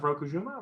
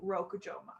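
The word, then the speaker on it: Rokujouma: So our next episodes are going to be on Invaders of Rokujima. Or Rokujima? So it's apparently Yeah. it's invaders of the Rokujoma. Okay. Okay. So I've been saying it wrong.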